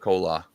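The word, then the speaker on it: Chola: So and you can just put cola like cola. I can spell it out for you or you just write C O L A.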